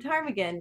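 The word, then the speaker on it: ptarmigan: to spell the word Tagan if you're familiar with Tagan everyone of course it has a silent p uh p t a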